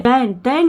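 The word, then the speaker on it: then: इसको दैन पढ़ेंगे, दैन, और एक ये होता है, ये क्या होता है? देन, इसका मतलब होता है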